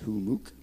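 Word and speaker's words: Hummux: a hamuk who mooc h-u-m-m-u-x is how you spell it but it's pronounced who mook we're doing a live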